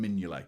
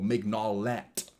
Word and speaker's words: Mignolet: And I obviously know Simon Mignolet, or Mignolet, if you want to pronounce it stupidly like I just did.